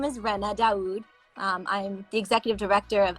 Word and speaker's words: Ranna Daud: Yeah, so my name is Ranna Daud.